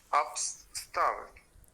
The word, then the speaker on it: upstairs: Upstairs. Ajá, se escribe upstairs, pero se pronuncia upstairs.